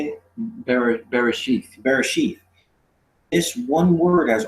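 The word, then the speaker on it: בראשית: Bereshith.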